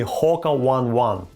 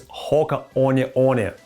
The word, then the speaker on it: Hoka One One: Stop calling the company Hoka One One. The right pronunciation is Hoka One One.